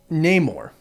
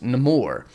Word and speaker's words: Namor: um Baku you just nameor or nemour which no spoilers but you'll find out why he's called uh it's actually not pronounced name or it's nemour in this film and